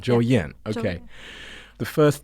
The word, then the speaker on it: 周燕: So ‘Zhou Yan’, but how do you say it with the tones? ZY: 周燕 . OF: 周燕 , so it’s 1st tone, 4th zone. ZY: Yeah OF: 周燕 , OK.